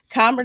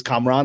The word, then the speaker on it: Kamran: What is the correct pronunciation of your first name? Please. Kamran is good. It's the way that it's pronounced in my culture by my family. In America in general, people call me Cameron, and I'm perfectly fine with that because that's the name I've always heard all my life. But the official pronunciation is Kamran. The emphasis is on the A's like that.